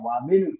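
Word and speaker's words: وابن: ഇബിനു ഖാലിദിൻ ഫിൽ മദ്രസത്തി. ഖാലിദിന്റെ മകൻ സ്കൂളിലാണ്. വബിനു ഹാമിദിൻ. വബിനു ഹാമിദിൻ. വാ ചേർത്തപ്പോൾ ഇബിനു എന്നല്ല പറയുക, വബിനു ഹാമിദിൻ.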